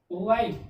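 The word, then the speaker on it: while: ठीक, W के बाद आया H, H हो गया साइलेंट, H साइलेंट हो गया तो क्या बचा, WILE, वाइल, वाइल, वाइल means क्या हुआ, जब या थोड़ी देर में।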